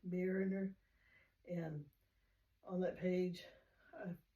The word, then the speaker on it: Mariner: So his name is Theodore J. Mariner, M-A-R-I-N-E-R.